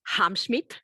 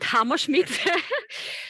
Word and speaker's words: Hamschmidt: Which last name I mispronounced, Hamschmidt, not Hammerschmidt.